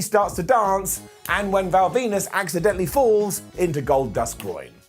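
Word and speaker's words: Val Venis: So he is defending his gold here against Ken Shamrock, Goldust and Val Venus, and yes, his name rhymes with penis.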